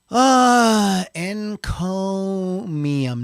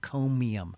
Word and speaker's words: Encomium: Encomium, not Neum. Encomium. I know. This is when I first wrote this a month ago. I'm going to say it wrong, so it's fine. Encomium. Like comb. Like comb your bald head.